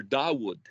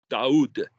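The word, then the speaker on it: דוד: And that's pronounced Dude or Dawood. Daoud.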